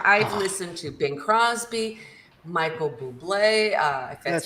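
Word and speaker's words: Bublé: it I try I've listened to Bing Crosby Michael Buble uh that's how you say his name um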